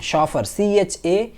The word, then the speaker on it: chauffeur: इसका मतलब आप ये समझ सकते हैं जो प्रोफेशनल ड्राइवर होता है उसे शॉफर बोलते हैं, शॉफर, CHAUFFEUR, शॉफर। इसकी स्पेलिंग पूछी जाती है स्पेलिंग मिस्टेक्स में, तो शॉफर की स्पेलिंग आप लिख करके याद कर लेंगे।